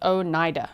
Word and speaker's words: Oneida: Zelzabez said, Oneida, pronounced Oneida. Oneida.